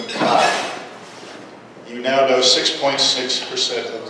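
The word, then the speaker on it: καί: And it's pronounced in the Erasmian pronunciation system, Chi.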